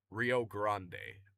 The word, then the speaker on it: Rio Grande: Rio Grande or Grand F. The E is silent.